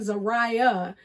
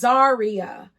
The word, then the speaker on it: Zarya: her name correctly because I've been saying Zariah, and it is Zarya L.